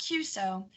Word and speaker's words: QSO: non-hams watching our program the letters q-s-o pronounced cuso stand for a contact